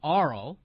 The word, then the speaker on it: Arl: My own name is Arl, pronounced like Carl with no C.